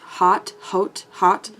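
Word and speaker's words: Haute: I'm gonna go, okay, I think I'm gonna go in with, I think this shade is pronounced Hot.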